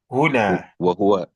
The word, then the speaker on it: هنا: Wa ma'i وهو معي huna. وهو معي هنا Not hunna. هنا. Yeah, Huna.